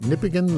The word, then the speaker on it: Nipigon: Nipigon, locally pronounced Nipigon, enjoys a newly built cable-stayed bridge over the fast-flowing Nipigon River.